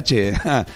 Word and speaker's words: tchê: O tchê, portanto, é uma variação do che, oriundo da forma de grafar em português, como ele é pronunciado em espanhol, como se tivesse um T com um E fechado, né?